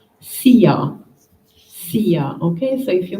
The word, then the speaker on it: Szia: The short word is not too difficult to pronounce, Szia.